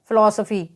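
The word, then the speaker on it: philosophy: भी होता है तो पी ह आई एल ओ एस ओ पी ह ए तो फ का उच्चारण यहां पर भी एफ होगा फ का उच्चारण यहां पर भी होगा तो हम इसे फ आई एल ओ एस ओ पी ह ए को हम क्या पढ़ेंगे फिलासफी तो यहां पर सबसे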